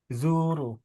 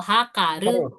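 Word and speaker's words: 測る: He ini ada yang tahu Zu Ming. Mentang-mentang dibacanya zu ya. Bukan. Ini mengukur sol. Hakaru.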